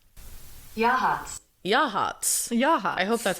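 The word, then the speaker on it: Yachats: I think it's Yakutas. Yakutas. All right, I'm going to play this for you so that you can't tell me I'm wrong. It's Yahats.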